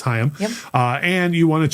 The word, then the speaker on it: Haim: correctly uh so and I'm told by Lauren that it is hayam uh and you want